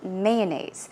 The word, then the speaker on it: mayonnaise: or mayonnaise I say mayonnaise so I put stress on the first syllable you can choose either